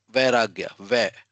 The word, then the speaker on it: Vairagya: Vairagya. You just say va, and then you say the other word, ragya.